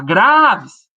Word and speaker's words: Graves: Você não chama Graves, você chama Graves. Claramente, a sílaba gra é muito mais longa, é a sílaba que você mais gasta tempo para gritar.